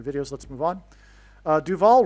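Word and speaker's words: Duvall: Uh Duval rhymes with Hall.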